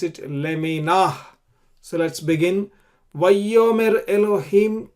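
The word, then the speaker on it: לְמִינָהּ: You pronounce it leminah.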